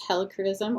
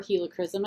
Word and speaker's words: Helichrysum: Ooh, the next one is Helichrysum or Helichrysum. I've heard it's pronounced both ways.